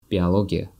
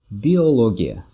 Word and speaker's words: biologia: And sometimes people pronounce it as biologia instead of O in the middle. They pronounce it A, biologia, because it was borrowed from Russian language. And in Russian it sounds like biologia, not biologia.